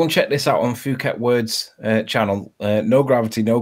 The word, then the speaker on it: Phuket: for Freddie Phuket yes it's spelled with an H but we don't pronounce it it hi all right